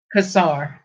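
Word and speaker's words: Cossar: Kazar, yeah.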